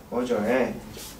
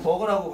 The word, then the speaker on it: merger: 그래서 그 merger에 merger는 뭐죠? 합병이죠? 오케이? 네, 종종 버거라고 발음하는 사람이 있어요.